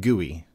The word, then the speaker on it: GUI: and by the way it is pronounced GUI graphical user interface now the GUI